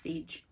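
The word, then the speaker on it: Sige: more sensitive to noise now siege it is pronounced siege siege is the gnostic goddess who is considered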